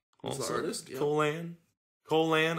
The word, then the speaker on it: Colan: Colan, I think is how you pronounce it more, but it just looks like Colon when I read it.